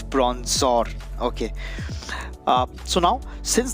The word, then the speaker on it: Bronzor: telling the name wrong it's bronzer and not bronze song so it's the evolved version that's bronze song and this is the previous one that's prawns or okay uh so now